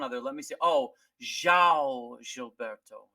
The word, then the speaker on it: João: Oh, João Gilberto. João. Because Ja. Portuguese has like like they have this vowel through the. It's kind of a nasal vowel, and we don't have it in our in our language.